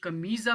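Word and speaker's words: camisa: Note की होगी कि कमीज़ा मैं बोल रहा हूँ लेकिन यहाँ एस लिखा हुआ है, तो जो एस है वो ज़्यादातर जेड की आवाज़ प्रोनाउंस करता है, ठीक है, पुर्तगीज़ में। इसी तरह आप ऊपर भी देखें,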